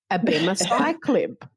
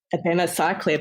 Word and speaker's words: abemaciclib: So they don't have a soft C, do they? No, it's everything is abemaciclib, it would be.